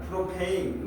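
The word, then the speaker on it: propane: 거기 안에 들어 있는 주성분이 프로판가스 지금은 발음은 바뀐 거야. 프로페인 뭐 이런 식으로 그걸 Y를 봐.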